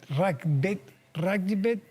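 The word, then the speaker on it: Rathgeb: Está con nosotros al teléfono el diputado Jorge Ragbet. ¿Cómo se pronuncia? Ragbet. Sí. Es de RN, estuvo en la reunión, está en línea, le agradecemos que nos responda el teléfono a esta hora.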